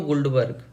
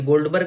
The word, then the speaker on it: Guldberg: तो ये लॉ जो था वो दिया गया था पीटर वेग और केटो गुल्डबर्ग। ये गोल्डबर्ग नहीं है, ध्यान से, ये गुल्डबर्ग है, GULDBERG।